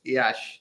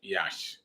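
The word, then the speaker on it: Iași: So it's pronounced Yash. Yash.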